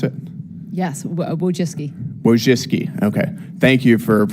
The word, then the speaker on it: Wojcicki: Miss Wojcicki, is that how you pronounce it? Yes, Wojcicki.